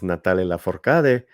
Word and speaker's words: Natalia Lafourcade: The correct pronunciation is Natalia Lafourcade.